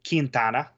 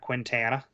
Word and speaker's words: Quintana: as for defense you I'm gonna pronounce this right because even their broadcaster was getting it wrong Christian kintana it's not Quintana uh Chad Vandergriff nacho